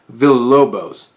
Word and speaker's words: Villalobos: And then shout out to Eugenio Derbez, who's Bernardo Villalobos. Don't even try to say his name if you can't roll the R.